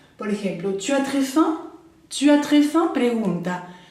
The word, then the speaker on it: faim: Entonces, très plus avoir, por ejemplo, avoir faim, faim es hambre, faim, bien nasal porque tenemos la A y M, entonces acuérdense el sonido faim, ¿bien?